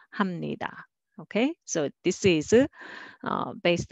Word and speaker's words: 합니다: And next, 합니다, but together, 합니다, 합니다. Sounds familiar, right? So this one, when you say 감사합니다, spelling is 합니다, but nobody would say that way. You always hear 합니다.